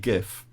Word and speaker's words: GIF: so the point about a gif and it's definitely a gif is that it's a